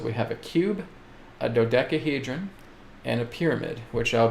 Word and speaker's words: dodecahedron: is okay so you basically pronounce it as dodecahedron which is spelled d-o-d-e-c-a-h-e-d-r-o-n dodecahedron okay it's a platonic solid that too